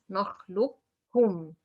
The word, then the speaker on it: نخلقكم: I pronounce just kaf twice. نخلقكم. I don't go for the articulation point of qaf at all.